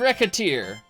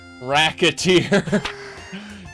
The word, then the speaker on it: Recettear: let's decided we're gonna be named Rekha tear right the tear mispronounced that even slightly and racketeer this job is going to